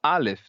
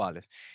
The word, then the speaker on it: Aleph: Ele representa uma consoante que é uma oclusão glotal, né? Seria um som de A, A. Não é a vogal que eu estou pronunciando depois, é uhum, a pausa, é a batidinha antes da vogal, né? Eu poderia pronunciar, por exemplo, A, pausa glotal e outro A. Ficaria A. Então, essa uhum. pausa, né, é o Aleph.